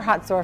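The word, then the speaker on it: Hazor: On one particular day, we went to a place called Tel Hatzor. Now, you may remember Hatzor from the Bible. It's spelled H-A-Z-O-R, and it was the only northern city in the country that Joshua burned to the ground.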